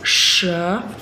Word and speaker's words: 蛇: Comme vous l'avez entendu, le signe du serpent, le serpent en chinois se prononce she.